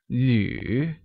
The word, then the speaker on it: 旅: 旅 is pronounced using the third tone on U, like 旅.